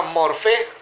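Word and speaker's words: μορφή: Esa palabra forma, yo quiero comentarle, es una palabra griega que se llama morfé, termina con acento en la E, y significa apariencia, parecido,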